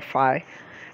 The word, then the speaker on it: phi: You can pronounce phi or phi.